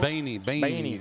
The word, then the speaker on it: Beanie: That's Bowen Beanie, I believe is how you say it, right, Coach? Beanie, yep.